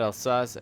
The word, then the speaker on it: Alsace: Trust me, it's pronounced Alsace. I looked it up on YouTube. You guys can't get me on the comments down below. I know it's pronounced Alsace. I know some people pronounce Alsace, Alsace, Alsac.